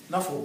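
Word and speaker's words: Knuffle: speaks her first word, Nuffle Bunny. Immediately, I was impressed because the little girl's first word was actually 2 words, 4 syllables with a silent K at the beginning.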